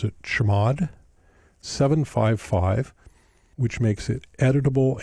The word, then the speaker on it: chmod: If it doesn't, you can make it executable by typing chmod, or as we pronounce it, chmod 755, which makes it editable and executable for